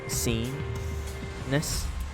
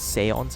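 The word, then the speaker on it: séance: It's pronounced as like scene, right? Scene-ness. But it's seance apparently. Seance.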